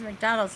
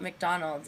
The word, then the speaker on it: McDonald's: Puts the He just puts the syllable accent on Mac. So, you know, where everybody else puts it on Donald's, but I don't know.